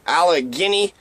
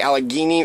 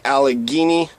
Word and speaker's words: Allegheny: Empire in the United Provinces another correction the Alec Guinea is the Allegheny River Allegheny River as how you supposed to pronounce it in 1749 Simon Guardi senior and